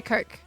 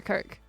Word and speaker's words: Coke: And then Impulse and Skiz put it in my head that maybe my Australian way of pronouncing it came out a very different way. And they're like, you should pronounce the O more.